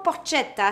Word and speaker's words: porchetta: coup en cuisine de la porchetta connaissez-vous la porte kate ça s'écrit pour chattam et ça se dit pour porte shehata c'est comme si tu me disais moi avec